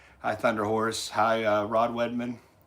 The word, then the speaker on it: Wiedemann: Hi, Rod Wiedemann. It's Wiedemann.